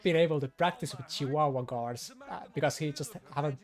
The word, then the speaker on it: Chihuahua: I love it how you pronounce Chihuahua. My bad. Chihuahua. That's actually how you write it. Yes. Yeah, that's the Finnish way. That's how you say it too, so it's best.